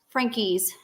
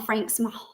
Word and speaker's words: Frankies: because they started the Frankies. I'm sorry. I've been calling them the Franks since 2015. But apparently we've been saying it wrong all these years. It's the Frankies, which are known as the 8-passenger family.